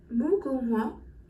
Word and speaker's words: 무궁화: En fait, ça se prononce comme mugunghwa.